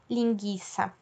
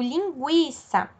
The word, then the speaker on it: linguiça: Mas com a palavra linguiça não é assim, eu não falo linguiça, certo? Então, eu digo linguiça. Nesse caso, o ele é pronunciado.